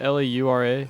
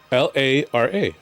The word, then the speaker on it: Lara: L A R A. Thank you. How do you say L A R A? Lara. Lara. Thank you. Why? So, we won't be calling her Laura Croft again today.